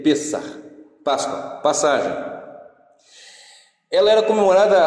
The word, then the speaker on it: Pesach: Se você observar, a Páscoa judaica, que se escreve Pesach ou Pessah, ela se lê Pessah, Páscoa, passagem.